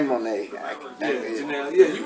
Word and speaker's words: Janelle: the background sing with Janette Monae uhhuh uh Jana mon Janelle yeah you right you're right Janelle I can't pronounce the name but no it's just been